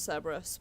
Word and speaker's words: Cerberus: cameras were thinking also I know they pronounce it Cerberus but I'm a nerd and therefore Karis it is a rescue a turian